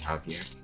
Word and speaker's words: Javier: Hello, Havier. Havier. Javier. I think the pro the correct pronunciation is Javier.